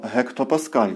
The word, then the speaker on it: гектопаскаль: індексом А дорівнює 100 гектопаскаль читається правильно гекто Паскаль не плутайте з великою літерою г і це дорівнює 100